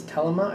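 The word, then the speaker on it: Thelema: I know I'm saying it wrong again. It's not thelma, it's telema, I believe, is how it's supposed to be said.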